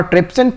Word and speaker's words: trypsin: is trypsin and lippies now trypsin pronounced like pepsin so as pepsin converges